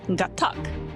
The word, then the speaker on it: Gatac: gattac Rayland cargo ship no it's got Tuck that's how you say it right heart coach okay